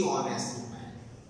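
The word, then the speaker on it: honest: हम दी कहेंगे, दी ऑनेस्ट। क्यों? उसका जो प्रोनाउंसिएशन है वो वॉवेल से हो रहा है, ऑनेस्ट अ से निकल रहा है।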